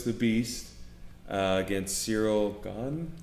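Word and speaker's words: Gane: beast uh against cyril gone gone is what they pronounce it yeah i always mispronounce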